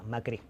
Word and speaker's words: Macri: Macri, con acento en la I.